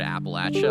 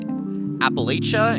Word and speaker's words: Appalachia: So, I see the word Appalachia and I automatically want to think about the pronunciation of that word Appalachia. A lot of out oftowners say Appalachia and the people that live around here know and think it's Appalachia.